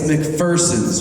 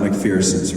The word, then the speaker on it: McPherson: By the way, it's McPherson's Ridge, not McPherson's Ridge. James McPherson said, there's no fear in McPherson.